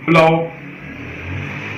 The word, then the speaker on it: plough: The letter combination OUGH is pronounced in at least 9 different ways.